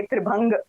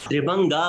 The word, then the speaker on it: त्रिभंग: और ये कितनी अच्छी बात है मैम, क्योंकि आपसे हमें पता चला, इससे पहले हम सब लोग इसको त्रिभंगा प्रोनाउंसिएट कर रहे थे, जबकि असली त्रिभंग है।